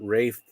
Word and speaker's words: Ralph: It pains me to admit that because it's Welsh, it is Rafe. Ugh. It's spelt Ralph, so.